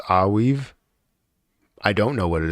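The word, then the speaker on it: Arweave: It's pronounced Aweave.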